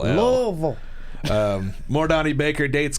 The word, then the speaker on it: Louisville: down there louisville louisville okay louisville vol like v-u-l louisville um more donnie baker